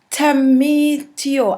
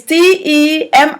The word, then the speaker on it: Temitope: Coney, and we have Temitio. I'm sure I said that wrong. Temitio or Temitopi. I saw that name before and I know I'm pronouncing it wrong. Anyway, it's Temitope.